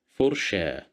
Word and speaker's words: فرشة: Here we have the letter fa at the beginning of the word, and we have dhamma that controls the sound. So we pronounce it as fu, فرشة.